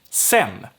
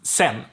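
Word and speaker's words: sedan: means later or then sen so here the d gets dropped but also the a gets dropped because it's we don't say c um it's weird it's sen then we have les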